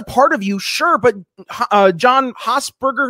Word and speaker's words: John Hospers: of you sure but John hoser is that what you say his name is John Hospers yep John Hospers like he didn't make